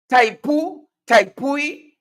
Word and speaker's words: Tepui: Is it Tepui? Tepui? Yeah? What's the name of the company? Yeah? Break it up in a syllable for me. Tepui.